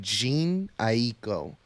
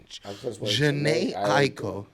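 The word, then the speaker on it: Jhené Aiko: next song we got the wild side with Gene Aiko is that the right way to pronounce her name jeans Janae Aiko Janae Aiko there you go thank you um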